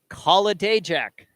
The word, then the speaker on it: Kolodajek: I've been corrected. The correct pronunciation is Kolodajek.